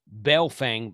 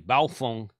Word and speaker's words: Baofeng: an 18 watt model of belfang belfong i'm going to try to say it correctly baofeng uv9rtp it was advertised